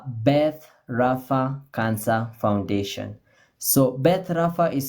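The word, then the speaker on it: Beth Rapha: is called a Beth Rafa Cancer Foundation so Beth Rafa is spelled b e t h hyphen then Rafa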